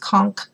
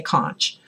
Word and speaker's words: conch: people will say day, same with the conch. It is pronounced conch. It's like the conch shell, but a lot of people say conch.